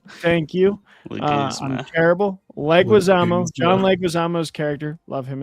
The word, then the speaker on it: Leguizamo: Like, is it Leguzma? I'm so bad with names. Leguizamo. John Leguizamo. Thank you. Leguzma. I'm terrible. Leguizamo.